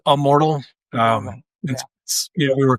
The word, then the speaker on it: Ammortal: Um, let's talk let's talk about um, uh, how do do you pronounce I pronounce it immortal. Is that wrong? Um, you know, it's a it's immortal.